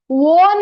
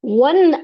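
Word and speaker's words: won: ನೋಡಿ ಈ ಮಾತನ್ನು ತುಂಬಾ ಸ್ನೇಹಿತರು ಇದನ್ನ ಓನ್ ಅಂತ ಹೇಳಿ ಓದ್ತೀರಾ ಓದಬಾರದು ಒನ್ ಅನ್ನೋದೇ ಸರಿಯಾದಂತಹ ಉಚ್ಚಾರಣೆ ವಿನ್ ಅಂತಂದ್ರೆ ಗೆಲ್ಲು ಅಂತ ಹೇಳಿ ಗೆಲ್ಲು ಅನ್ನೋದಕ್ಕೆ ಒನ್ ಅನ್ನುವಂತದ್ದು ಪಾಸ್ಟ್ ಟೆನ್ಸ್ ಹೌದಲ್ವಾ ಮತ್ತೆ ಹೌದಲ್ವಾ ಆದ್ದರಿಂದ ಇದನ್ನ ಒನ್ ಅಂತಾನೆ ಹೇಳ್ಬೇಕು ಈ ಒನ್ ಅಂದ್ರೆ ಒನ್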